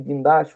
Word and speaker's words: guindaste: Na verdade, ela é a palavra paroxítona, que a última sílaba tônica é a penúltima, que é, no caso, a do meio ali, é o das.